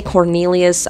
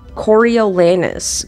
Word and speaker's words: Coriolanus: he does not like I can't say Coral lanius I'm just gonna say Cornelius I know it's not the right way to say it but Corey coriolanus coriolanus coriolanus okay he